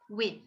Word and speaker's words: with: There is one exception that can go either way with the final position. It depends on dialect and how you would pronounce this word. The TH could be voiced or voiceless in this particular word.